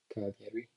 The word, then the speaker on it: Cagliari: Cagliari. I think Cagliari is how it's pronounced.